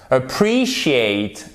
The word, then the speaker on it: appreciate: Ensuite, vous pouvez avoir le E qui se prononce comme un I long. Vous le savez, en phonétique, les voyelles qui sont longues ont 2 points. Donc, un I long, c'est comme ceci, par exemple. Appreciate, apprécier. Vous voyez, c'est pas appreciate, non, appreciate. OK.